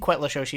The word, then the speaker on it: Cuetlaxochitl: I think Quetla Shoshi is roughly how you pronounce it, but that's the